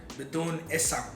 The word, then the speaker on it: Bidun Ism: Bidun Ism. I don't know, that's how I would pronounce it. People also call it Bidun Isam.